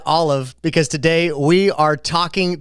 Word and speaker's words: OLLIV: buy Bitcoin you heard that right I said Olive because today we are talking to a gentleman